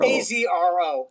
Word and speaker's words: AZRO: AZRO. Okay, you pronounce the letters. Okay. It's the letters, yeah.